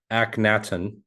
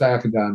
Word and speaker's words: Akhenaten: There are actually 3 different spellings of his name, pronunciations. I go with Akhenaten myself.